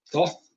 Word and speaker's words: Thoth: About Hermes Trismegistus and his connections to Thoth, or Thoth, if you want to pronounce it that way, Thoth, and the Emerald Tablets, okay?